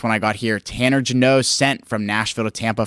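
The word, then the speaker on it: Jeannot: Jano? Is it literally Jano? Okay, that's what I thought it was. Yeah. I was like, oh. Next one I got here. Tanner Jano sent from Nashville to Tampa for a boatload of picks.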